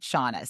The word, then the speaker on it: Shanna: don't people my mom read a love novel and it was SHA, so it's like Shanna, but she gave birth to me, so we pronounce it Shauna.